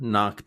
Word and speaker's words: knock: team in the playoffs knocked out all of the others and won everything first pronunciation the K is silent don't say it the pronunciation is knock